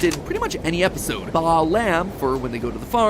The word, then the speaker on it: Balaam: All three of them, Bael, Pie Man, and Ba-Lam, are phonetic ways of pronouncing the names Bael, Paimon, and Balaam, three king demons from the Ars Goetia.